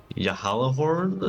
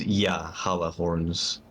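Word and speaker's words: Gjallarhorn: Yeah, Yahalahorn, I think. Uh-huh. Yeah, it's like a Y. It's not a J so much. I think because it's Nordic. I believe it's Yahalahorns.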